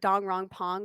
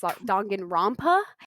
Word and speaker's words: Danganronpa: I call it Danganronpa, but that's not what it's called. It's Danganronpa is actually how you pronounce it, and that's a game that is now an anime.